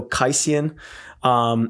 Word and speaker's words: Quaicyon: There's also Studio Q or Studio Kaisian. It's pronounced, it's spelt super weird. So it's the word studio and then Quaicyon.